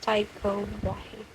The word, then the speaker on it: Tycho Brahe: I don't know if I pronounce it right, but it's Tycho Brahe.